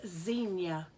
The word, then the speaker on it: Xenia: of those tricky ones it starts with the letter X but sounds like it should be Z it's a city called Xenia and see right there